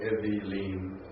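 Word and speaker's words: אֱוִילִים: I would say Evilim. Actually, Oh, yeah. the accents on the, see the accent on the last syllable there, Evilim.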